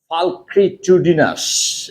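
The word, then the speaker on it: pulchritudinous: Having great physical beauty, the long, difficult to pronounce word is falcritudinous.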